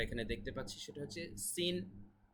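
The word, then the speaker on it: سين: দেখতে পাচ্ছি সেটা হচ্ছে সিন যেটা কিনা ইংলিশের এস এর মত উচ্চারণ ঠিক আছে ইংলিশের এস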